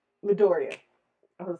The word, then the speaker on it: Midoriya: uh, the one with Todoroki and I'm gonna mispronounce this boy's name. Midoriya. I was gonna say Madoku. Midoriya and Todoroki season 2.